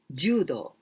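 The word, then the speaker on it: 柔: Well, this ju, here we pronounce ju, but we can also pronounce yawarakai.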